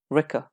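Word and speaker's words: Rikke: Ricker rhymes with pricker.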